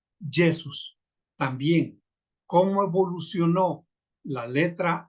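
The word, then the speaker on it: Iesus: a encontrar la palabra con con i que es y se y se pronuncia yesus también cómo evolucionó la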